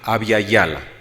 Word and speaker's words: Abya Yala: Se escribe A, B grande, Y-A, Y-A-L-A, Abya Yala.